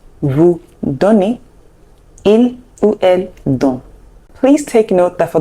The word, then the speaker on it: donnent: It's silent, so it's still il, the same way it's pronounced in the singular form, and it's pronounced don.